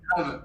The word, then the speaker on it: Grav: Non, c'est grave, G-R-A-V. Je crois que puis c'est un E, c'est Grave, hein. Grave CMS. Non, c'est G-R-A-V, ouais, grave.